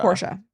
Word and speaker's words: Portia: Is her wife's name Porsche or Portia? Portia. It is Portia. Yeah, Portia. Is it after the car or no? No. I think it's spelled like Portia.